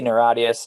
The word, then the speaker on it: NIRATIAS: Narratius, am I pronouncing that right? It's a made-up word. You can say it any way you like. Awesome. We say Narratius, Narratius.